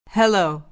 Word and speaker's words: Hello: Hello. Hello. دقت کنید که در زبان انگلیسی تشدید نداریم. یعنی حرف ال را در کلمه سلام مشدد تلفظ نکنید.